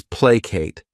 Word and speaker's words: placate: The next verb is placate. This word has 2 syllables, and the stress is on that first syllable.